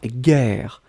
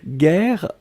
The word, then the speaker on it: guerre: les cris bien guerre on écrit effectivement j'ai eu un air air donc vous avez le double r donc kivu qui ouvre la prononciation du jeu et donc c'est la raison pour laquelle vous prononcez gailhaguet guerre et puis la dernière